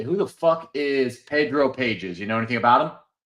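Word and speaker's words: Pagés: The G is silent. Pages.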